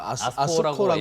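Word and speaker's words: ASCO: 미국 임상종양학회 ASC 이거 아스코라고, 예. 아스코라고 읽으면 되죠.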